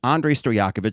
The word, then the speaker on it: Andrej Stojakovic: Even though there is a J in the name, it is typically silent in terms of pronunciation. So it is Andrej Stojakovic, son of, for NBA basketball fans of a certain age, Peja Stojakovic.